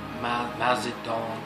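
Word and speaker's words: Mao Zedong: Joseph Stalin, Mazadong, that's how you say his name, Mazadong, Pol Pot, and what's another famous example?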